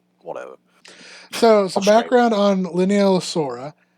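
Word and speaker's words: Leaellynasaura: I struggle to say the name of constantly, Lineaellosaura, or Lineaellosaura, because it's spelled Leallynasaura. It's Oh, Jesus. Yeah. Thank you. Liaellosaura.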